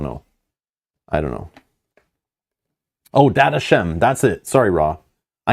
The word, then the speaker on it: Dadachaem: see I don't know I don't know oh data Shem that's it sorry raw I knew somebody knew the pronunciation I forgot what it was yeah data Shem in the tutorial video yeah I don't remember